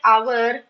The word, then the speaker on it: hour: Like in words like our, honest, okay? Just see the word begins with the consonant alphabet. H. H is a consonant, you all know that. But H is silent in these words.